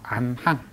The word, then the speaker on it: 안항: 그래서 기러기 안자에다가 이렇게 쓰면 안항이라고 읽죠. 안항 기러기 줄 줄항이 때 줄 한 줄 두 줄 할 때는 항이라고 읽죠.